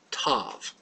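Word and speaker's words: ת: It's pronounced just like tet. It's tav. Tav.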